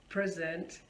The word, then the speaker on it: present: Now if I put stress on the first part, on the first syllable of the word, if I say present, on my birthday I got lots of presents.